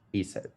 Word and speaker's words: ASIT: with careers I founded Alberta students in technology pronounced ESET during this program I'm